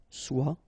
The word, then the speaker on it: soit: Okay, then of course être and avoir, so être will become soit, remember final S is not pronounced, soit, then soyons, soyez, alright?